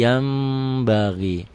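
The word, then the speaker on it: يَنْبَغِي: Basir yanbagi Yan yanbagi dibacanya Jadi yambaghi kenapa karena nun mati nun mati nun sukun ketemu ba satu kata satu kalimat bunyi n-nya berubah menjadi m ada bindang sedikit sedikit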